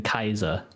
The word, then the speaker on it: Caesar: You know, that actually is the Latin pronunciation of it, though. They don't have soft C's. Oh, I didn't know that. Yeah. So in like supposedly in Latin it would have been Kaiser.